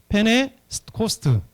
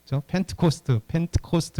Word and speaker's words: Pentecost: 영어로 보면 이 펜타코스테라는 이 단어를 그냥 그대로 음력해서 페네코스트, 그러니까 영어로 하면 T자가 영국식으로 하면 미국식으로 하면 T자가 거의 발음이 안 되고 영국식으로 하면 펜트코스트 이렇게 T자가 강하게 발음됩니다.